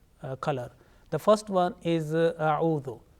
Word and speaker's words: أعوذ: The first one is a'udhu. Sometimes it is pronounced like auzu.